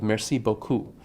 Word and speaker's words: merci beaucoup: it turns out that French has exactly the opposite bias that in many two syllable words in context the prominence is on the second syllable so I think of merci beaucoup those those words have more emphasis on the end of the word than the beginning we don't say merci beaucoup you would sound like